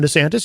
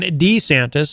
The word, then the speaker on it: DeSantis: Florida, governor there, Ron DeSantis. You might have heard of him, or you might have heard him referred to as Ron DeSantis. Apparently, you can say his name either way.